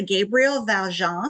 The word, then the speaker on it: Gabriel Valjan: Today we have with us a Gabriel Valjan. Am I pronouncing that right, Gabriel? Yes, you are.